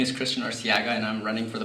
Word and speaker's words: Arciaga: Did I pronounce that right? Arciaga.